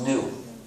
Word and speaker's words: gnu: in countless wordplays because according to the dictionary the g is silent and it's pronounced new so every time you